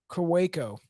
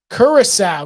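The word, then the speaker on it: Curaçao: start Googling things uh so I know karako does that sound right I'm gonna I hate I hate butchering this pronunciation this is so embarrassing I was mad like so I can't really say anything okay Curacao God I knew that because it's a liquor called Curacao God damn it it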